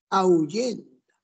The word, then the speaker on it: ahuyenta: ¿Cuál es la sílaba que tiene el acento? Au o yen. Ahuyenta. El acento está en yen, no está en nao.